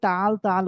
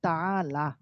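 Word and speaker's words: تَعَالَ: তাহলে অর্থ হচ্ছে কি, হে ছেলে, তাআলা হুনা, তাআলা হুনা, আমরা সবাই তাল তাল বলি, বাকি এটা শুদ্ধ উচ্চারণ হচ্ছে বা শুদ্ধ এটার এরাব হচ্ছে তাআলা, লামের মধ্যে জবর, এটা ইসমে ফেল বমানা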